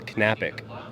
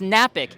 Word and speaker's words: Knapik: in your last name you do pronounce the k my last name it's canapic I have told everyone that and everybody's like no it's napic it's it's silent like knife and so I had